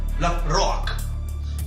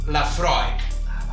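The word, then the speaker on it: Laphroaig: La Rock. La Fra. Cap dels dos, la pronunciació correcta és la Freud.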